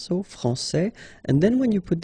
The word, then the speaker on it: France: France and Fran because we don't pronounce the final s in France and it's exactly the